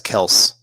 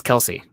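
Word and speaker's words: Kelce: i didn't wanna yes the e is silent on travis kels but his brother says it's kelsey okay yeah i even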